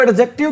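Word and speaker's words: adjective: एक बात बताओ इसको एडजेक्टिव क्यों नहीं बोलते हैं जहां पर भी कौन सा वर्ड आ जाए भी डीजे वर्ड इकट्ठा आ जाए तो डी की साउंड क्या होती है साइलेंट होती है जहां पर भी डीजे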